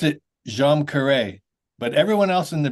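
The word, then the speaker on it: Djam Karet: it I pronounce it jeam K but but everyone in the band pronounces it differently so there's you know and it's an Indonesian phrase so don't worry about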